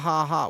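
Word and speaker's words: ห้า: Ha ha ha. Wait, why? What's the haha for? Did you know in Thai the number five is pronounced ha?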